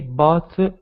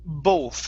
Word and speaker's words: both: This word is pronounced both instead of both.